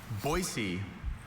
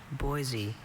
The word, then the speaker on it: Boise: And I've been to Boisey enough to know its inhabitants prefer that pronunciation with a hard s to the soft one.